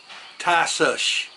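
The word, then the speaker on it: Tisas: Um, what I've got is a tyush. And I looked it up to find out for sure how to pronounce that cuz everybody was saying tyus. It's tus. Tyush. The last s has an h. Tyush.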